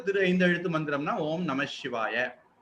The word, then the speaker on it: நமசிவாய: பஞ்சாக்சர மந்திரம் அப்படிங்கிறது ஓம் நமசிவாய இதுல நா ம ஷி வா ய ரொம்ப சரியா சொன்னா நா மக ஷி வாய இதுல மக அடுத்தது வரக்கூடிய ஷகாரம் வரும்போது அது வந்து நமசிவாய அப்படின்னு மாறிடும்.